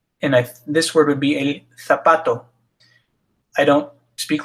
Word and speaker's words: zapato: This one also has an asterisk because it's not el zapato, but it's el zapato. Z's are pronounced just like S's, no difference. No matter where the Z is, it's always an S. There is one caveat to that. In some parts of Spain, they pronounce Z's and C's with a lisp TH sound, as long